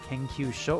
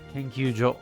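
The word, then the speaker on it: 研究所: Is it Kenkyusho or Kenkyujo? Kanji can be confusing like that. Kenkyujo.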